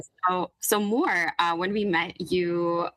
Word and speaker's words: Mor: So, more uh in Hebrew it's pronounced mo. And so Mo or Moore is the Hebrew for